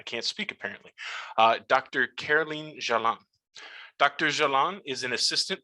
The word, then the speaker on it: Jalain: Jalain, the screen is yours.